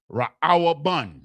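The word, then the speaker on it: ראובן: Reuben is pronounced Ra'awabun.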